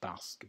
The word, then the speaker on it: basket: Basket. Basket. Basket. Put it in the basket. Basket. The stress on the ba. Long a.